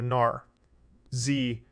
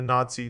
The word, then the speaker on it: Nazi: when he called Hitler a Gnar Z rhymes with Kazi emphasis on his eyes rather than a Nazi tease his first speech as